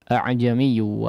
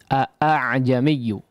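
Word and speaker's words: أأعجمي: Tapi di sini atau dengan riwayat yang biasa kita gunakan, maka di sini cara membacanya adalah mentashilkan, memudahkan pengucapan hamzah yang kedua.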